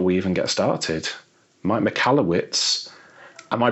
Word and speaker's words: Michalowicz: with the British accent so I pronounce it mallwitz like you said uh the original pronunciation I believe was m it's from Eastern Europe Ukrainian you know Russian area yeah and what's the